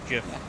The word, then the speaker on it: GIF: It could also be said YIF, but no one's saying that. Well, I'm saying it how the creator of the format says it's pronounced GIF. Like the peanut butter.